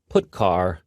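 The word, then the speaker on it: putchar: They are pronounced: printf, putCar, and puts.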